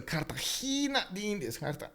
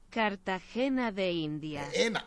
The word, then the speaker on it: Cartagena de Indias: So you see, but you gotta put a long E in there, you know, like it's a Cartagena de Indias. Cartagena de Indias.